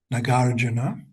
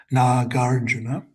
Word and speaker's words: Nagarjuna: Master Nagarjuna Notice the pronounce Not pronouncing. It's not Naga Nagarjuna. Nagarjuna. Nagarjuna.